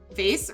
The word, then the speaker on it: vase: Vase rhymes with base or mace. Yes. Vase rhymes with vase. Vase. Close. Vase like face. Yep. That's what I say. Vase like face. Not vase like vase.